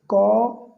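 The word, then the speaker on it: caught: Catch का second form है, यहाँ भी जीएच साइलेंट है, कॉट।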